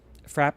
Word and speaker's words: frappe: it's just gross fra Frapp e is the E is silent because French is dumb I'll allow it frap